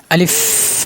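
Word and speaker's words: ألف: আলিফ বাতাস বের করবেন আলিফ প্রথমে একটু শক্ত করে আলিফ আলিফ কোরআনের ভিতরে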